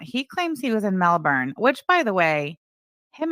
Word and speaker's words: Melbourne: He got that pronunciation from dumbass Clarandra. It's Melbourne.